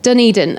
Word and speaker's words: Dunedin: Zealand you much a place called was it Dunedin or dinner did Dunedin yeah Dunedin they weren't mental you had name Ed's put